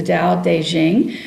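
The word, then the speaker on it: Tao Te Ching: the da deing um notice the um pronunciation there despite the fact that is spelled um in this spelling T AO T um it and you will see it spelled d a o d as well so just be aware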